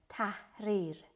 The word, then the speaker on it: tahrir: the same with instrument it is spread like t a h or i or tahrir the edge is in between little with his heart to pronounce it's like very like deep in your throat like okay so for